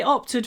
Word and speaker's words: opt: Really short o before the unvoiced p. Opt. Opt.